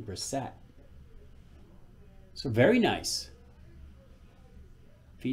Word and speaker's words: Brissett: I do believe that's how you pronounce his name, Brissett.